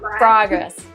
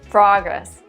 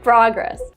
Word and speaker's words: progress: Progress. That's right, Lucy. In America, we say progress. We don't say progress. The American pronunciation is progress, with the short ah sound, like hot and stop.